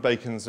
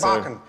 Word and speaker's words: Bacon: Bacon. Bacon. Bacon. Sorry, I said Barkin. Sorry. You see, sometimes it's pronounced Barkin. Yeah, sorry.